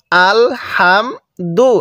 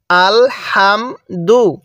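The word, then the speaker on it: الحمد: তাহলে এটা কিভাবে পড়বো আল হামদু হ্যাঁ হা টা উচ্চারণের সময় মুখ দিয়ে হালকা বাতাস বের করব আল হামদু এরপরে লাম লাম জের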